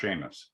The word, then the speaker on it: Seamus: It's pronounced Seamus.